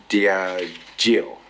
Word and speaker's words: Diageo: All these monies are taken to Diageo, that's how you pronounce it.